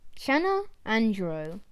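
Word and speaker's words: Channa andrao: little karma chana andro scientific name shanna andro pronunciation channel andro size to 11 centimeters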